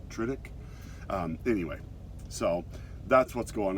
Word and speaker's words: Tudyk: I think it's like Tudyk, but like Riddick, but Tudyk.